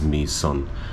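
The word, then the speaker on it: Mỹ Sơn: Sanctuary called me son and it's spelled m-y-s-o-n but I believe how it's pronounced is me son so this morning I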